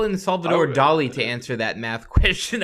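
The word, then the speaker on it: Dalí: his name properly okay Dolly that's where the accent is on the eye yeah but everybody calls him dolly Salvador Dali it's Salvador Dali okay Salvador Dali that's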